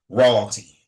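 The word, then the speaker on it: Rawyalty: Now, if you look up Royalty Apparel, it is spelled R A W Y A L T Y like royalty. Like royalty, but it's royalty.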